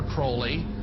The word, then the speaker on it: Crowley: about was aliser Crawley he likes to have his name pronounced Crowley to rhyme with holy and uh the satanists